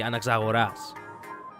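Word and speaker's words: Anaxagoras: The actual thoning of the name Anakagoras, it's actually anoras. The the the tone goes in the final ah. So it has been pronounced wrong this entire time in English.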